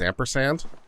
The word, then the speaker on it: ampersand: Well, that's how you pronounce it, or you pronounce it as ampersand, right?